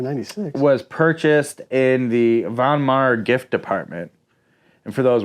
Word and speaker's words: Von Maur: was purchased in the Von Maur gift Department and for those wondering it is not pronounced mower yeah I know my